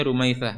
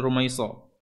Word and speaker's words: Rumaitsah: Kemudian dari neneknya Rumaitsah, namanya Rumaitsah, bukan Rumaiso. Rumaitsah. Rumaitsah binti Umar bin Hisham bin Al-Muttalib bin Abdul Manaf.